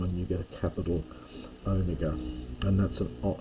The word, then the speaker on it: omega: you get a capital omega and that's an sound as in can be long as yeah sorry it's a long o as in home probably softening a little bit